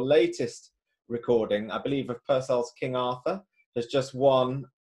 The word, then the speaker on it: Purcell: scansion is such that they can only work if it's Purcell with a stress on the first line.